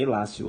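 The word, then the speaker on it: illatio: Hilácio, mas a pronúncia é Hilácio, latim.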